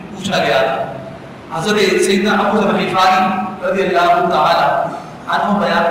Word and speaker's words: ابو ذر غفاری: ذر غفاری کہلاتے ہیں، اس لیے ان کا جو حقیقی نام اور صحیح پروننسیشن کے ساتھ تلفظ کے ساتھ جو نام ہے وہ جناب سیدنا ابو ذر غفاری رضی اللہ تعالی عنہ